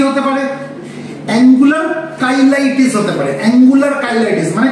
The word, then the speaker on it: cheilitis: উচ্চারণটা হবে কাইলাইটিস, আবারও বলছি। ঠিক আছে, চিলাইটিস ফিলাইটিস কিন্তু বলতে যাও না, কাইলাইটিস, CHEILITIS, মানে ইনফ্লামেশন, কাইলাইটিস।